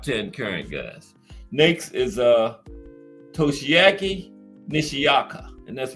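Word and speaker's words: Toshiaki Nishioka: Syllableize it out. Toshiaki Nishiyaka.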